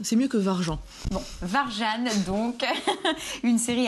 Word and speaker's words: Warjan: oui en fait c'est la prononciation est un peu différente de l'écriture d'accord bon je peux le dire varjan ça passe c'est mieux que varjan bon varjane donc une série à